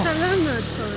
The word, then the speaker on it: salamat po: Salamat po. She's always been correcting me. Am I saying it correctly? Salamat po. It's salamat po, no?